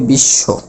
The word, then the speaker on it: বিশ্ব: তাহলে শেষে থাকলে আমাদের নিয়ম বলতেছে যে বফলারটার কোন উচ্চারণ যদিও না হয় কিন্তু যুক্ত বর্ণটি কি হবে? দ্বিতীয় হবে। অর্থাৎ উচ্চারণটা হবে এরকম 20 আর এই তালিবাসটা আরেকবার হবে উচ্চারণ তখন হয়ে যাবে বিশ্ব উচ্চারণ তাহলে কি হবে বিশ্ব আর তালিবাস এর সাথে